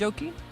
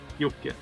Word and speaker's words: Jocke: Is it pronounced Joki? Jocke. Yeah.